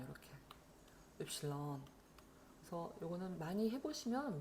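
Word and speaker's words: Ypsilon: 그리고 악센트도 뒤에 있다. 읰실론 이렇게 읰실론.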